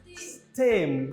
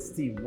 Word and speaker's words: stem: Stem. This is pronounced as stem, not steam.